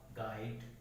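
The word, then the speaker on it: guide: के बाद आता है, अगर यू किसी वर्ड में जी के बाद आता है तो जो यू है वो क्या हो जाएगा साइलेंट हो जाएगा। जैसे एग्जांपल देखिए आप, गाइड, गेस्ट, गार्ड, ठीक है, बॉट, ला।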